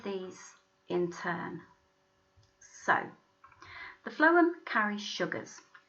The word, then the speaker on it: phloem: remember which ones which think phloem think of the sound at the beginning phloem food now one of these tubes